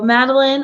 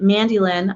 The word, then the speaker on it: Mandy Lynn: And so Madeline or anyone else, oh, excuse me, Mandy Lynn, I totally pronounced your name wrong.